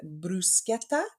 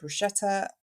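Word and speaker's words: bruschetta: I interviewed her actually I got top marks for pronouncing brusketta correctly I've been calling it brushetta all this time which was really annoying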